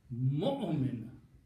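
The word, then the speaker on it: مؤمن: But it doesn't matter what you put, you don't pronounce it. You have to pronounce mu'min.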